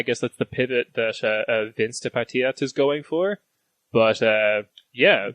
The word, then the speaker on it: Vänsterpartiet: now, and I guess that's the pivot that Vänsterpartiet is going for. But yeah, that's wonderful pronunciation. Thank you. Wait, who is the left party? I'm not going to try to say it. Vänsterpartiet.